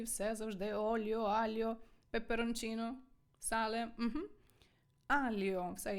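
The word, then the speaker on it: aglio: що італійці готують пасту і все завжди Ольо альо пеперончино сале Угу альо все я вже вимовила альо лальо з артиклем лальо ажун спііаліо додай кусочок часничку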